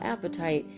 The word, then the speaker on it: apatite: a sweet there's sweet descriptions right apatite Oh apatite not the way you think it's spelled you know it's not about wanting to